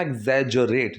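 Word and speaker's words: exaggerate: लेकिन एक वर्ड होता है टू एग्जैजरेट, प्रोनाउंसिएशन का ध्यान रखना, एग्जैजरेट, जो की आवाज़ आएगी, ठीक है।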